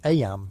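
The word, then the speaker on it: Eyam: Aam, you know, is pronounced just like em.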